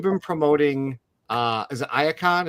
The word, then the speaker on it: Iacon: promoting uh is it ion is that also the proper way yep ion ion all right cool I